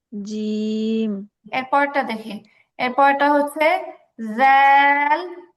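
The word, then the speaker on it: ذال: এরপরটা হচ্ছে জাল ল জাল ল। আচ্ছা আবার জাল ল। স্পষ্ট উচ্চারণ হবে, স্পষ্ট উচ্চারণ হবে।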